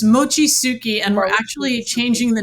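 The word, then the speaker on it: Mochitsuki: And I hope I'm pronouncing it's Mochi Tsuki? Close. It's Mochi Tsuki, and we're actually changing the name to Mochi the movie because it's too hard to pronounce Mochi Tsuki.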